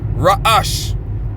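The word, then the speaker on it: ראש: Raash.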